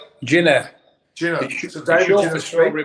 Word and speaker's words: Ginner: How would you like me to pronounce the middle name? Ginner.